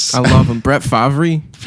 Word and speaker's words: Favre: Brett Favrey. Favy.